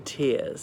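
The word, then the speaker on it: tiers: this court said to go up in tears as in level not tears as in weeping and sobbing but T ie are as in chests are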